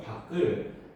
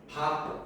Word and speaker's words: 밖: 그리고 우리는 자음으로 끝났을 때이 밖을 밖 이렇게 발음하지 않아. 그냥 쉽게 박 이렇게 표현할 거야.